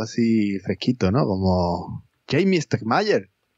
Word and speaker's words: Stegmaier: Como Jamie Stegmaier. Stegmaier, el hombre que nadie sabe pronunciar su apellido.